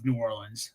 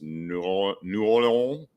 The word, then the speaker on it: New Orleans: Well, and there is a correct way, I believe, to pronounce New Orleans. It's New Orleans, something like that. Well, so if you're from New Orleans, you just say it's New Orleans. Yeah. So like that's how we pronounce it. We will make fun of you if you say New Orleans. New Orleans, like you're gonna get ribbed for that one.